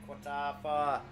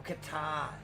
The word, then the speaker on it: Qatar: remembering really first pitted car on track here tonight at Qatar or Qatar. I'm probably pronouncing pronouncing the Q too much. I think it's Qatar.